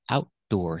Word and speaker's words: outdoor: has outdoor seating available let's talk about the difference between these two words we have outdoor and Outdoors one difference the the most obvious difference is there's an S there's an S at the end of Outdoors but there's another difference the stress is different when I say outdoor the stress is on